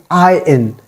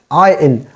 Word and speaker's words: iron: not iron it is I in it is I in R is totally silent here you don't have to make the sound of r i in it is